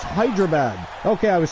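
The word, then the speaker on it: Hyderabad: this is delayed comment but yes it is pronounced hydrabad okay I was saying it right wow that's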